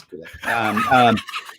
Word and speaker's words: Gulag: No, it's not. It's Gulag.